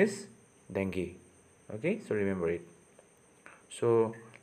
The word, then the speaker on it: dengue: with a long pronunciation is dengue people commonly pronounced the word is dango okay but the actual pronunciation is dengue okay so remember it so let's move to